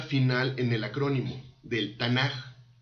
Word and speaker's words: Tanaj: en el acrónimo del Tanaj. Y por ser la última letra, toma la forma de Kaf final. Y se pronuncia suave, como J, no como K. Por eso es que se pronuncia Tanaj y no Tanaj.